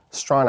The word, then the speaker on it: Strachan: You can see in the sign, Strahan is spelled Strachan. That's one of the more difficult names you'll have to pronounce in the city of Toronto, as Strahan Avenue is a rather prominent street that runs